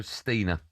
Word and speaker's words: Steiner: Although it's spelled the same as me. I'm gonna go Stina.